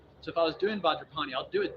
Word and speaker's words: Vajrapani: So if I was doing Vajrapani, I'll do it 3 times. You're saying the words. And personally, I put the word Vajra and Benza together, and then Pani is its own thing.